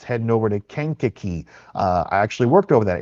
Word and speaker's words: Kankakee: It's heading over to Kankakee. I actually worked over that area. That is the way you pronounce it.